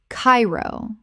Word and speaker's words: Cairo: Hawaii Hawaii Word 111 Cairo Common mispronunciation Cairo Correct pronunciation Cairo Actually, this is correct. Two syllables rhyming with gyro.